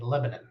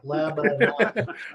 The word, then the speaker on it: Lebanon: Say that with me, Lebanon. I actually pronounce that. A lot of people actually, like the Hooked on Phonics thing, Aaron for me spelled it out like Lebanon.